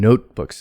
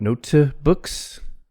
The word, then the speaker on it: notebooks: stop or fricative sound and notebooks and not note to books and not don't put an extra syllable on the s books but notebooks two syllables notebooks not note2 but notebooks so the t is unreleased notebooks and pens so